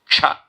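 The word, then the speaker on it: क्ष: Half the people in the world cannot pronounce Ksha. Ka plus Sha, okay? Ksha.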